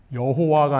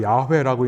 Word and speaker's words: 야훼: 여호와가 아니라 야훼라고 읽는다고 했어요. 여호와가 아니라 야훼. 야훼의 날.